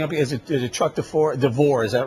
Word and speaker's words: DeVore: Is it Chuck DeVore, is that right? I pronounced that name right?